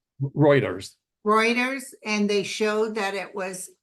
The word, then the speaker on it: Reuters: according to WR how do you say it writers Reuters Reuters and they showed that it was they